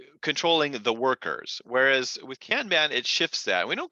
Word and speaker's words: Kanban: In fact, Kanban, I think actually, if you're Japanese, I'm told the proper way to say it is Kanban, but I don't do that.